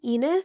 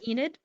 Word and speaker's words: Enid: think um how do you say her name Ina Enid Enid okay sorry Enid um I think she's